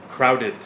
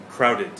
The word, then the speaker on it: crowded: Alright, in today's pronunciation point, let's talk about the difference between cloudy, kumoteru, and crowded, konderu. Alright, now I know it sounds very similar, and I'll say it one more time. Cloudy, crowded.